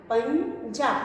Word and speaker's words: पंजा: उसके बाद अगला शब्द है पंजा। पंजा प पर बिंदी पन ज पर आ की मात्रा पंजा, पंजा। यहाँ पे ध्वनि आ रही है इया की, पंजा।